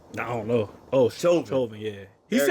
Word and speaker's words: Chauvin: Oh, Chauvin, yeah.